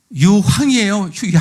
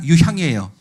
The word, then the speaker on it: 유향: 황금과 유황이에요. 유향이에요. 발음을 확실히 안 하면 야, 폭탄을 드린 거야? 화약을 드린 거야? 동방박사들이 뭐 자폭하라고? 네, 그러니까 유향이죠, 그죠?